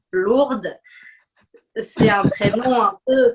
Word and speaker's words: Lourdes: de petite fille s'appelle lurdes ou en amérique du sud est peut-être ailleurs mais est ce que tu es d'accord avec moi que en français quand on le prononce à la française lourdes c'est un très loin